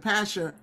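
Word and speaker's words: Pashhur: So it looks like P-A-S-H. That's why I pronounce it Pasher.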